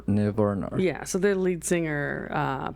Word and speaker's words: Nirvana: Nirvana. Nirvana. You have too many R's in there. Nirvana. Nirvana.